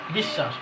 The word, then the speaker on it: বিশ্বাস: দীর্ঘি তন্নি এইযে দিগন্ত বিশ্বাস অশ্ব নিশব এটা হচ্ছে এটার নিয়ম হচ্ছে যদি শব্দের শেষের অথবা মাঝখানের বর্ণের সাথে যদি বফলা থাকে তাহলে সেই বর্ণটা সরাসরি দুইবারের উচ্চারিত হবে কিন্তু ব ফলার উচ্চারণ নাই সেই বর্ণটা কোনটা আছে